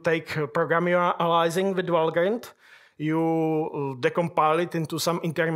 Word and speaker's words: Valgrind: It should actually be pronounced Valgrind because it's a name that predates English language. It's from Norse mythology.